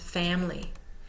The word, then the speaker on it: family: syllable all by itself family for example is often pronounced family because the i in the middle has the Schwab vow sound has become so lazy and is not sounded out fully note not all words